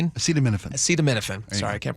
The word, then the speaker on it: acetaminophen: They said we are aware of the White House's statements regarding asame as acaminophene. Acetaminophen acetaminophen. Sorry, I can't pronounce that.